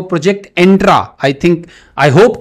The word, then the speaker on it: Entra: Project Volterra के साथ ही Microsoft ने एक और प्रोजेक्ट लॉन्च किया है, उसको कहते हैं वो प्रोजेक्ट एंट्रा। आई होप कि मैं इसको सही प्रोनाउंस कर रहा हूं।